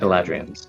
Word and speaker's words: Eladrian: You said it right the second time. It's a lad. Eladrians. Lad What do you know about the Eladrians?